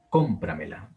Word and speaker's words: cómpramela: Vean que tenemos la última sílaba, la, tenemos la penúltima sílaba, me, tenemos la antepenúltima sílaba, pra, y tenemos la antepenúltima sílaba, que es con. Cómpramela, cómpramela.